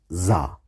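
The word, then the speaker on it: ظ: different sound this is za in persian it's pronounced just like zal and zei you must not confuse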